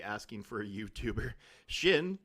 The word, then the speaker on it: Shin: Shin, like part of your leg, shin bone, and Hati, like Hati.